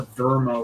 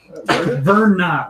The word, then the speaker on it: Verna: Rest, or just Swear Verma was not her name. I say we take. Verna. Verna. That's what it was. It Verna. was an N, not an M.